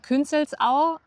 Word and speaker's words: Künzelsau: Nein, das spricht man Künzelsau aus.